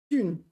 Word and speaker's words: 俊: I got the pronunciation right at least. Jun.